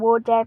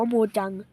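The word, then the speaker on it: Mojang: กับ บริษัท โมจัง หรือ โม แจง นั่น แหละ ผม เขา เรียก ว่า โม แจง นะ ทุก คน แต่ มัน อ่าน ว่า โมจัง และ ผู้ เล่น Minecraft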